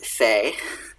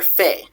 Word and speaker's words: fae: word fae and it though it's fey now in modern